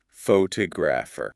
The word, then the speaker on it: photographer: But what happens if we change the word a little? What about the person who takes the pictures. Ah, now the word changes. It becomes photographer. The stress moved to the second syllable, t o. It sounds like a totally different word. The pho at the beginning got really small.